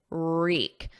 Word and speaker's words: wreak: Now notice the pronunciation of wreak. Reek. There's no W, it's silent. So it starts on a R, and then the vowel is E, reek.